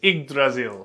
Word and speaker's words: Yggdrasil: You basically swapped the wire to an eye. It's igrazil.